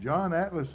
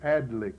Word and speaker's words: Adlich: most valuable men we've ever talked to, and John Atlas at Brewers was the first cream buyer in the county. That I knew anything about. I believe I mispronounced it. It was Adlich, was it?